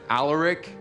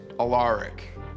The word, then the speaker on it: Alaric: history teacher alaric saltman you'll probably want to pronounce it alaric but it's alaric okay so you can